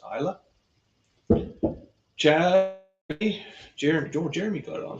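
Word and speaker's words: Islay: it looks like it's slave Journey but it's pronounced Isla Chad Jeremy got it on finally so green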